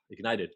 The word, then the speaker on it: IGNTD: So Ignited is spelled IGNTD.